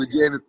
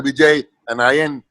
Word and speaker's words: Vijayan: Because her pronunciation of Vijayan is Mr. Vijay, and Ayan is something like that, she said.